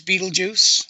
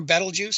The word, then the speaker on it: Betelgeuse: in all its glory there's Betelgeuse or battle juice however you want to pronounce it and of course there's